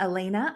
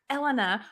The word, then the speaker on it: Elena: Well, Elena, and I want to say to everyone that that yes, Elena's name is pronounced Elena, not Elena.